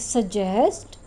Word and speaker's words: suggest: It is suggest. So j, d and z sound. These two letters pronounce the j sound.